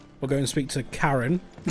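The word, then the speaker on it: Charon: We'll go and speak to Karen. Karen spelled like Karon though as in the uh the Greek underworld boatman.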